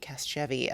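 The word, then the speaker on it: Casgevy: Cast jeevi cast jeevi I'm trying cast jevvy cast jevy to soft soft g soft g cast jeevy um so and what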